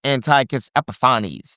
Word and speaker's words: Antiochus Epiphanes: Okay, a lot of people call him Antiochus IV, or Antiochus Epiphanes, or Antiochus Epiphanes. I've heard it pronounced all kinds of ways by different scholars. I like Antiochus Epiphanes. That just feels fancy to me.